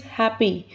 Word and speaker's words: happy: The next word is happy. Like party, here Y is also giving E sound, a vowel sound.